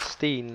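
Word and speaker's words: sten: s t n and in Danish we we spell Stone like without double e so just s t e n and I'm just going to pronounce that Steen like we do in Danish so I guess right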